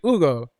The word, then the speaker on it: Ugo: In Spanish, can also be Ugo. Because of the pronunciation of the H, it's just Ugo.